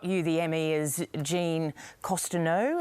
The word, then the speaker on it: Cousineau: And of course, Bill created that fabulous series, Barry, which got you the Emmy as Jean Cousineau. Have I pronounced it correct? Cousineau, that's right, Cousineau.